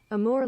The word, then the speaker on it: Amur: How to pronounce, please. I could go to my robot if I have to. Amur Leopard.